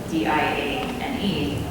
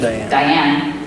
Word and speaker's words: Diane: Her name is spelled D-I-A-N-E, which is Diane in the English-speaking audience, or English-speaking language. But in Japanese, it's pronounced Diane, and that's the pronunciation they went with.